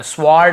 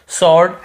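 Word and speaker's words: sword: blue को नहीं पढ़ना स्वोर्ड ऐसे नहीं पादना क नहीं पढ़ना केवल शॉर्ट ऐसे पढ़ना है हमें क्लियर हो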